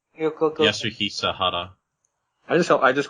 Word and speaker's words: Yasuhisa Hara: His name is pronounce. Okay, like you go. Yasuhisa Hara. I just call him Yaha-sama, but what's his actual name? Yasuhisa Hara.